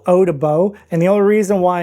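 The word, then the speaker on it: Eau des Baux: But anyway, this one's called Eau de Baux, and the only reason why I know it's called Eau de Baux is because I was corrected on that once as well. So I butchered it, and someone said, yeah, that's not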